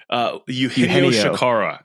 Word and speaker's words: Eugenio Chacarra: play right now for poor, how do you pronounce his name? Eugenio Chacarra.